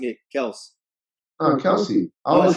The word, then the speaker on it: Kelce: Are you nicknaming him Kels, or are you pronouncing it Kels? Kelsey.